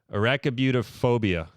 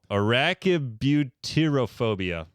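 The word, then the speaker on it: arachibutyrophobia: give me sorry I'm sorry everyone out there arachabutophobia no no arachibutirophobia a-r-a-c-h-i-b-u-t-y-rophobia go again arachibutirophobia very good very nice thank you uh fear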